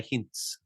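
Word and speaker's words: Hintze: is that hint hint H don't say h I would say his name is Pierre hints oh I like that hints I'm a drag that out say it one more time I like that Pierre hints hints okay confirmed that the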